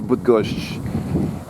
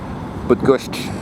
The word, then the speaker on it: Bydgoszcz: So, about the structure of Bydgoszcz, and yeah, it's actually, apparently the pronunciation at the end really does have that sh.